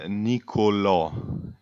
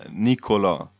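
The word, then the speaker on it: Niccolò: try and pronounce it it's Nicolo Nicolo not Nicolo or something like usually English people try and pronounce it's Nicola okay so the next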